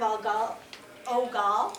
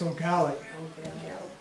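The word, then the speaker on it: Eau Galle: in the town of Al Oall. I'm not sure I'm pronouncing that correctly. In St. Croy County, it's Ogali.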